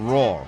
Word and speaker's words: Roar: because of my accent how do you pronounce it right that was perfect roar yeah not know our our oh okay so